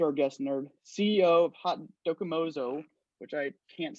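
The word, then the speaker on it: Haute: little bit about it hot doki mazzo is what we say hot is spelled like h-a-u-t-e oat if you are french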